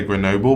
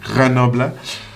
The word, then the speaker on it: Grenoble: think that's how guys say i normally say grenoble but i do know it's pronounced granoble but anyway um that line it's about performance